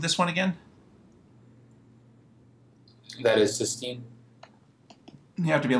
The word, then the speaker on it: cysteine: It's pronounced cis. Cysteine. Cysteine. Cysteine. Cysteine. That is, you have to pronounce the E separately from the ine.